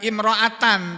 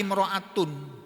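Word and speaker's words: امرأةٌ: Au, atau bacanya ini bukan imro'atan tapi imro'atun. Artinya apa?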